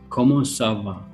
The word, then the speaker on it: comment ça va: are you in two sentences sava sava como sava okay for how are you and how are